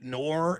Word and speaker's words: Knorr: So I have a lot of people tell me that my last name, Knorr, is the way that Australians pronounce the word no.